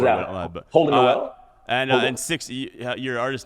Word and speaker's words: Holden Nowell: But, Holden Nowell? And six, your artist name too, 6Trey is how you pronounce it, correct?